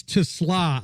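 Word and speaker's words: TeSlaa: Yeah, I'm kind of looking forward to, so how do you pronounce his name? Is it Isaac Tesla? Yeah, it's Tesla.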